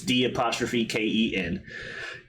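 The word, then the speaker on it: D'Ken: or Deacon, however you pronounce his name. It's D''Ken.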